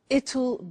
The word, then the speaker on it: it'll: I said tomorrow it'll be cold. You notice how it will becomes it'll. It'll. Strange pronunciation, yeah?